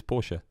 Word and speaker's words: Porsche: him and the same Porsche Porsche is Porsche oh is that right is that the correct pronunciation German so just a nice